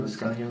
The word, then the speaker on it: Lascano: How do you say it, Lascano? Lascano. Lascano.